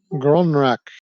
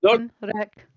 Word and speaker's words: Gronrak: Tell me the name one more time, and I'll do my best to pronounce it right. Gronrak. Gronrak. Like he said. Gronrak. It's easy. Bye, Not, Gron Rack.